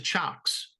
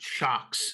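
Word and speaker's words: Cioks: a while and then I recently switched to chocks right which is spelled c-i-o-k-s by the way yeah I believe they're Dutch sure we'll go with that shocks c-i-o-k-s um to me the three oh no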